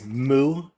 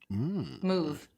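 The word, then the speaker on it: Muv: Did you say moo fitness? Like moo like a cow? I was like, oh my God. I was like, what kind of gym is that? Hey. Yeah. And it's interesting. It's spelled M-U-V. Move.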